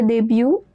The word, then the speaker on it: début: Le début. It means beginning. The t at the end is silent.